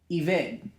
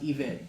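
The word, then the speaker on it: עבד: In the Hebrew, the original language called Eved. It's E-B-E-D, but it's pronounced Eved, like with a V.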